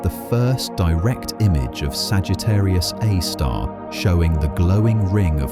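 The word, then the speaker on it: Sagittarius A*: called Sagittarius A star, pronounced Sagittarius A star.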